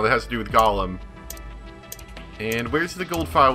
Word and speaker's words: golem: It ends up being pronounced like Gollum.